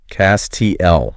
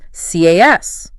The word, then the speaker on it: castle: You see the visual spelling and it feels so natural to want to lean into that middle consonant. CASTLE Right, but again, in standard British English, the flow wins out. It becomes CAS.